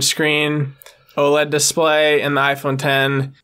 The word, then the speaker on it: iPhone X: And lastly, after the iPhone 8 was the iPhone 10, the 10th anniversary iPhone. That's why they named it that, but it's spelled with the Roman numeral 10.